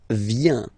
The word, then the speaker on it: viens: First form, je viens. Final S not pronounced.